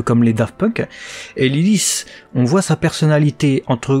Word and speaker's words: Lilith: On découvre son nom dans cet épisode, donc Lilith, hein, donc ça se prononce à l'anglaise, qui du coup a le kanji Waru, donc le mal.